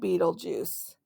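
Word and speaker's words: Betelgeuse: watching let's talk about Beetle Juice pronounced Beetle Juice Beetle Juice Beetle okay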